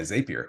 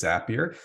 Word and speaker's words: Zapier: I was calling it Zapier, which I think is what a lot of folks call it. But you are right. It is Zapier.